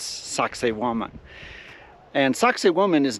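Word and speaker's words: Sacsayhuamán: we are in sakan it's not actually pronounced sexy woman it's sakan and sakoman is not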